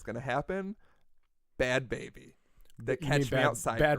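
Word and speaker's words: Bhad Bhabie: So I was like, it's Bad Barbie. And then I heard an interview with her, and I was like, oh, it's Bad Baby with an H?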